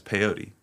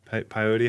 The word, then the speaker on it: peyote: you pull up some piote how do you say it P peyote piote yeah P yo T um for people just